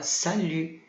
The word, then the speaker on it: salut: E o T final a gente não vai pronunciar.